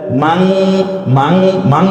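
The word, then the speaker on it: مَنْ: আছে ফাম্মা মান সাকুলা, মাং মাং মাং বললাম কেন? তার কারণ হচ্ছে মান সরাসরি নটা উচ্চারণ না করে আমরা অনিশ্বার দিয়ে চন্দ্রবিন্দুর মতো করে একটু নাকের মধ্যে নিয়ে, সৌন্দর্যের জন্য, অন্য কোনো কারণ না।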